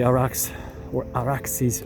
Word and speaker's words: Arax: Arax, right by the Araxes River, using the Persian, Akkadian, Sumerian pronunciation. It's Arax, but the derivation is much more ancient.